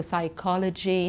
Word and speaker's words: psychology: mistake as well here when people pronounce the p in those words and that's wrong so we say Sai we don't say we say Sai so psychology psychiatrist pseudo and then